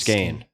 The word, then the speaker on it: skein: and knotted got it maybe i'm mispronouncing it but i think it's skein no you got it skein all right yes you